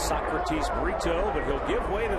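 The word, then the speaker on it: Brito: When they first told me the name, it sounded like burrito, but it's Burrito.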